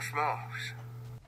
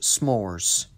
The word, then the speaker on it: s'mores: campfire and eat warm smokes it's actually pronounced s'mores kelly right sorry that